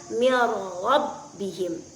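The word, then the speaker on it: مِن رَّبِّهِم: Contoh, min dengan rabbihim tadi, maka cara membacanya adalah menyatukan huruf nun ke dalam huruf ra. Contohnya mir rabbihim, tanpa meninggalkan sifat takrir dari huruf ra tersebut.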